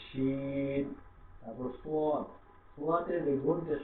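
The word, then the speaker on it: شين: তালে বর্ষ, তালে এই যে শিন যেটা, যেটার উপরে তিনটা ফোঁটা দেখতে পাচ্ছেন, এই ফোঁটাওয়ালা শিন যেটা, এটা আমরা কি করবো? এই তালে বর্ষ দিয়ে আমরা এটা উচ্চারণ করবো, শিন।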